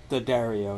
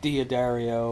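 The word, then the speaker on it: D'Addario: of years uh found myself attached to these Daario light top heavy bottom strings and yes it's apparently pronounced the Dario not Diario or or diodio or any of the other weird pronunciations that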